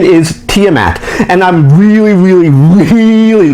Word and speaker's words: Tiamat: get the name confused people call this character tie a mat the correct pronunciation is tiamat and i'm really really really you can tell